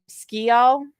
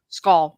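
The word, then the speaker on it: Sgaeyl: Then the actual pronunciation of what it's supposed to sound like is skull, and it means shadow. So it's skull, not shigale.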